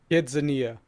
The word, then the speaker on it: KidZania: But is it spelled Kids like a what? quinceañera? Kidzania. Kidzania. Kidzania, that's it. Yeah, okay. But it's pronounced very similar to quinceañera.